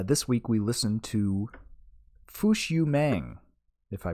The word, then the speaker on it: Fush Yu Mang: to but uh this week we listened to fushu mang if I pronounce that right you you did by Smash